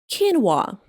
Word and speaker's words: quinoa: It is pronounced like quinoa.